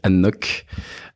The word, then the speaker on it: anCnoc: un single malt alors qui s'écrit a n C n o C mais qui se prononce ça se prononce donc Anok nockdou donc qui est